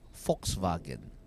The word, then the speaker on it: Volkswagen: actually pronounce it as Volkswagen you interchange the v in the W but I'm gonna you you treat the W as a v a V and then you treat the v as an F Fox but it